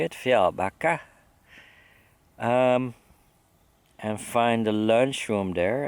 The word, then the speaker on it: Fjällbacka: That's how they say it, Fjällbacka.